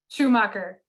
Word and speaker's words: Schumacher: Did I pronounce the right correctly? Schumacher.